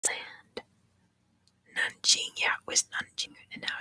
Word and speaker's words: Nanjing: Yeah, it was Nanjing, and now it's Nanking. No, the other way around. It used to be Nanking, and now it's Nanjing, because that's how it's actually pronounced.